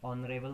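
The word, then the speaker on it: honourable: ठीक है, इस तरह के जितने भी आपके वर्ड्स जहाँ पे आपका एच जो है म्यूट है या साइलेंट है, वहाँ पे हम एन का यूज करेंगे।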